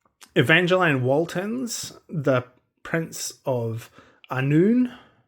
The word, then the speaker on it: Annwn: And then I read Evangeline Walton's The Prince of Annwn. I believe that's how you pronounce it. I believe that W is a U sound. So, Prince of Annwn.